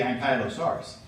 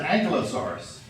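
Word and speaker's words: Ankylosaurus: to pick one of course it's at the an kyos saurus and I know some people pronounce it angelosaurus but I actually talked to a Classics major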